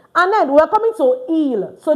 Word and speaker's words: ils: And then we're coming to il. So this is pronounced il because the S is not pronounced. ILS is pronounced il, meaning they, for masculine.